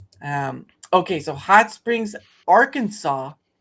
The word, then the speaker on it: Arkansas: okay so Hot Springs Arkansas I know it has an S at the end but it's pronounced Arkansas the city of Hot